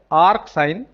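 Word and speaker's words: asin: They are pronounced as ark sine, r cos and r tan.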